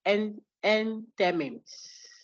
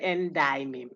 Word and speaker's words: enthymeme: Enthymemes. Enthymemes. Spelled what? How do you spell Enthymemes? Enthyme. Enthymeme. You should have said endymeme, but that's not how it's pronounced. It's pronounced enthymeme.